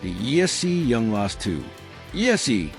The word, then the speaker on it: ESEE: ESEE, pronounced "ee-see", stands for Escape, Survive, Evade, and Escape.